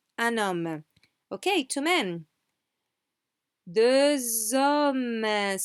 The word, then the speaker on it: deux hommes: So this X, we do pronounce it. However, it's not the X homme, it's the Z sound, okay? The Z sound of like a buzzing bee in your ear, yeah? Deux hommes, deux hommes.